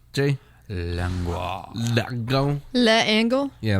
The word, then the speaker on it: L'Engle: So it's A Wrinkle in Time by Madeleine L'Engle, as Jay was telling me. It's how did you say it's pronounced, Jay? L'Engle.